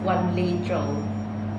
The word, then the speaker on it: Wanli Zhou: confirm your name please uh my name is one Le Jo and could you spell it for me please uh it's w a